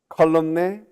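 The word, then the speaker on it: column: never mind and the the killer is really this one silent n colum is uh anyway you get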